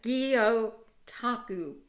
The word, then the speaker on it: Gyotaku: So now let's see if I can pronounce this. Gyotaku. No. Close it up. Gyotaku. I can't do it. Fish prints. Yes, Gyotaku.